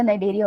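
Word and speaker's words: Cnidaria: वो वैसे सैनिटरिया नहीं होता, नाइडेरिया होता है। अरे अरे अरे, इतनी खराब प्रोनाउंसिएशन तेरी, मजा आ गया सुन के नाइडेरिया होता है बेटा, उसमें ना सी साइलेंट होता है।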